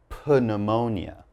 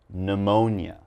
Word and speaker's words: pneumonia: What I have in this word, PN begins the word, but I'm not going to say pneumonia, okay? The P is silent. So all I'm going to say is pneumonia, okay?